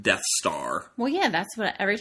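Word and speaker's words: Dt's Tarw: called death star yes when said fast enough sounds like death star from Star Wars but it's spelled D T apostrophe s then the second word is t a r w so death's tar but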